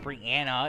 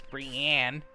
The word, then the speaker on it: Brianne: Anne and there's no a at the end so it's not Brian Anna it's Brianne and then got singer